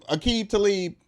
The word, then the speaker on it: Aqib Talib: chain snatcher ABI talib Aqib Talib you akita leave that's how you say it yeah you leave quali